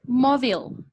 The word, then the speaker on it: mobile: cuando la estamos pronunciando nosotros decimos mobile, y esa E nos queda como si fuera insonora.